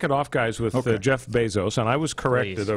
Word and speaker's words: Bezos: So Bezos with a long A.